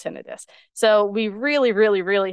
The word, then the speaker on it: tinnitus: or if they do they don't know it's pronounced tinnitus so we really really